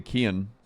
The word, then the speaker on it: Kian: I say Kian.